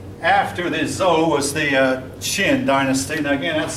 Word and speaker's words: Qin: Now, the next dynasty after the Zhou was the Qin dynasty. Now again, that's spelled Q-I-N.